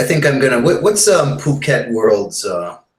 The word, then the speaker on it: Phuket: I'm I so much to hear you guys pronounce it properly it is Phuket yeah yeah I really I originally thought it